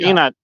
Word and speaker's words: ingat: Ingat. I'm sorry, Inat. Inat. The G is silent.